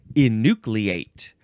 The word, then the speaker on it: enucleate: is twine next is enucleate and yes this has the a sound the eight at the end because this is a verb from 15 48 and